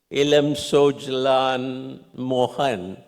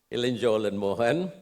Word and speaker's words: Ilan Cholan Mohan: Actually is Ilan Cholan, the Cholan of the historical era. The Raja Cholan and the Chulias and the Cholas and so on. Ilan means young. Ilan Cholan Mohan.